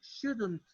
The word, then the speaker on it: shouldn't: Nuevamente recuerden que en la pronunciación se escucha la D, la L no suena para nada y en este caso de ser, oye, un poco la N y la negación de la T, shouldn't.